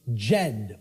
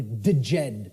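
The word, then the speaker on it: Djed: was known as the the Jed or the deed pillars depending on how certain people pronounce it and these Jed pillars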